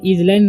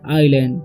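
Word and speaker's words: island: पर लिखा हुआ है आई एस एल ए एनडी तो इसे जलैंड नहीं पढ़ना है इसे पढ़ना है आईलैंड ठीक है आई लैंड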